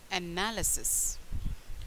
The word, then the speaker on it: analysis: see ah na analysis the stress on the second syllable so it became analysis meaning that detailed study